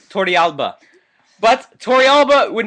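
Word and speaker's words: Torrealba: um yit Tori well the correct correct pronunciation in espanol y Tori Alba but Tori Alba would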